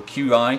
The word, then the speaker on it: Qi: What we've done is we've integrated Qi charging, or QI charging, if you've never heard it pronounced Qi, right into the mouse pad.